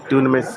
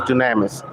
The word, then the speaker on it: Dunamis: um check me out d-u-n-a-m-i-s is greek for power so it's power carpet cleaning dunamis copper cleaning a lot of people pronounce it as dynamics but it's actually dunamis and what is your